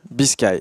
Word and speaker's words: Biscay: C'est est-ce qu'on prononce Biscay, est-ce qu'on prononce Biscay? Tu vas pouvoir nous le répondre. Biscay, c'est ça.